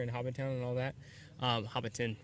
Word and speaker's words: Hobbiton: Hobbiton, right? I think that's how you pronounce it.